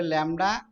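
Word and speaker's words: lambda: এর উচ্চারণ ল্যামডা।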